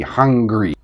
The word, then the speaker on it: hungry: break it down anymore so all words that pronounce this G sound have the sound as part of the root angry hungry Honestly though in English